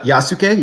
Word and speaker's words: Yasuke: a special on, I don't know if I'm pronouncing his name correctly, but the African samurai, Yasuke? Yeah, Yasuke, yes.